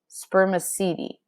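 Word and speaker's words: spermaceti: from a waxy material in their heads called spermicidi you say it like this spermicidi but scientists don't really know what its purpose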